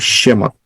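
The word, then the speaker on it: שמות: Pertama huruf Shin, kedua huruf Mem, ketiga huruf Waw, keempat huruf Tau, bacanya Shemot.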